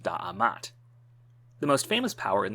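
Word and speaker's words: D'MT: for a kingdom, and which was maybe pronounced Da'amat.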